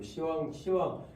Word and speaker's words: 시왕: 이런 어떤 왕들을 거느리고 시왕 불교에서 십은 시라고 읽어요. 그죠? 시방 세계 그런 얘기 하죠. 그죠? 왕도 사실은 이제 10명의 왕이라 이제 시방인데 그냥 경음을 안 써서 시왕 이렇게 이야기를 합니다.